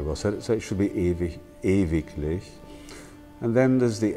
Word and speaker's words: ewig: Now, ewig is pronounced in German ewig. So at the end of Mahler's Das Lied von der Erde, it comes again and again, ewig, ewig.